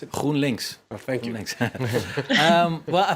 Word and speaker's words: GroenLinks: Stefan de Vries, what's been the success then of this Groen, how do you pronounce it? GroenLinks.